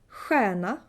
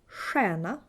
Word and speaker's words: stjärna: In the northern half of Sweden, you would say sh. Ch, sh, stjärna, stjärna, norrsken, norrsken, skjorta, skjorta.